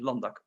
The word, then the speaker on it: LANDac: the key role of landac well i prefer much more dutch pronunciation london it was created as